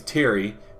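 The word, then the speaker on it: Pterry: The name's Terry, but with a silent P, like a pterosaur or pterodactyl. Nest.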